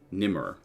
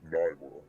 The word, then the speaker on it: Nymor: Nimmer. That's pronounced Nymor. Nymer. Nymor. My mistake.